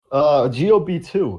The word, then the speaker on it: Gob2: GOB2. Or Gob2, as Breon correctly pronounced this episode.